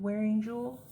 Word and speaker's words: Wearingeul: We wearing jewel I believe is how you pronounce that and it's called Tinkerbell.